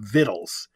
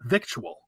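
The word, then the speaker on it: victuals: The Beverly Hillbillies and Granny would always have vittles it has like a southern intonation to it and that's the correct pronunciation the CT that came in came in much later and it's still pronounced vital not victual that was one of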